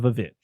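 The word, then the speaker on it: VVitch: gritty one like the the vit the vit that's you have to say it like that it is tov's not connected it's the vich vich yeah uh so going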